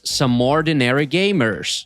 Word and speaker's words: Some Ordinary Gamers: Se tu por um acaso não conhecia esse canal, é só acessar I'm so sorry, the correct pronunciation is Some Ordinary Gamers.